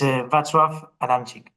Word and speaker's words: Wacław Adamczyk: His full name is a little bit difficult to pronounce, but I'm gonna try to do it correctly, which is Wacław Adamczyk.